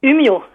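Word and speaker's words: Umeå: de la Suède comment comment vous prononcez humio parce qu'il y a un petit rond audessus du a voilà et quand il y a un petit rond audessus du a en Suède au danemarque ça fait o mais si tu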